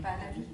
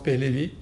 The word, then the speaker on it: Pahlavi: Parce qu'il y a des gens qui s'appellent Pahlavi. Alors, c'est une prononciation, oui. Alors, il y a des gens qui prononcent Pahlavi, d'autres qui prononcent Pehlevi, d'autres qui prononcent Bahlawi. C'est pareil, à peu près pareil.